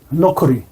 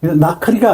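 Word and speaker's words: נכרי: 이방인이 나카로네 노이라 그래 이거 나카 나클이라고 읽으면 안 돼요. 노클이 여기 하나에 저게 빠졌어요. 실력이 빠졌어 밑에 점 하나 예 실이 점 하나 빠졌어요. 여기 점 하나 빠졌습니다. 거 노크리이 나크리가 아니에요. 이게 노크리라고 왜냐면 이게 이제 끝나는 글자니까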